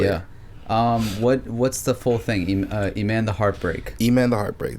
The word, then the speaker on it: Eman: Wait, so how do you say it? Iman or Eman? E-man. So it's like Eman. it's like Emmanuel, but E-man.